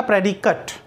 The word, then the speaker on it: predicate: देखो प्रोनाउंसिएशन ध्यान रखना, प्रेडिकट।